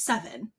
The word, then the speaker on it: VII: Like my son's best friend's name is Seven, and it's spelled VII like the Roman numerals. Hmm. Okay, so you think his name is Vi, but it's Seven because it's Roman numerals.